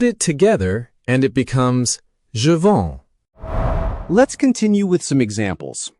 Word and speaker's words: je vends: But when you speak, often both the s and the letter right before it are completely silent. Take a look at je vends or j'attends.